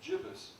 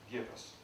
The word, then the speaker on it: gibbous: terms of its pronunciation some say gibbous moon the 3/4 moon and some say Judas moon I've checked the sources half say and so I check with my friend heavy here today and he helped me make a decision as to how to pronounce this word I'm going to go with give us one well he brought to